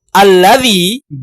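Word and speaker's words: الذي: Alladzi, baca bareng-bareng. 1, 2, 3. Alladzi bila di tengah maka dibaca alladzi. Harokat hamzahnya hilang.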